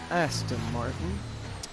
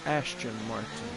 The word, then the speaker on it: Aston Martin: had something to fix I was pronouncing uh you know this car with an H in the name and I apologize it is Aston Martin and I was saying Ashton Martin so it is Aston